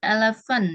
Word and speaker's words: elephant: Terus elephant ya. Jadi P ketemu H itu bacanya F. Elephant.